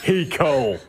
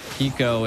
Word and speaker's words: Hiko: Hiko does it again, G. Oh my God. You know, Hiko's name's almost like Aiko, but spelled with an H, and I love it.